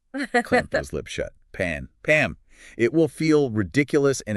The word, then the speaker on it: Pam: Contrast that with the common name Pam, lips closed, Pam.